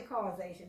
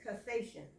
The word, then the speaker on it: cassation: They don't say causation, it's cassation.